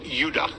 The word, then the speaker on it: Judah: were called Benjamin and Judah more properly pronounced udah because we didn't get the harder sound to the J until about 200 years ago until the year